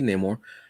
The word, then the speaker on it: Namor: um which I love the new pronunciation of it for the MCU now in the comics it will still be Namor but you're gonna say no more I ain't gonna be